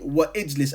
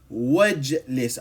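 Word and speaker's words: وَاجْلِسْ: don't say wa ijlis, I say wajlis. I skip this hamza al-wasl, okay? Because it has no vowel sound if it's not in the beginning. If it's in the beginning, then it's pronounced ijlis. But if we're not starting, if it comes after like wa, then we skip it.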